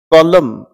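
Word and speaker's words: column: सी को प्रोनाउंस करें कॉलम, इसमें एन की साउंड नहीं आती।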